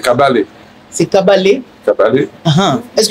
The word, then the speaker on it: Kabare: le je dis le nom de cabalet cabaret ouais en fait c'est kabalé c'est kabalet kabalé ah